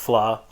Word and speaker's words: vla: but it's called flaw that's VLA but it's pronounced flaw so it comes in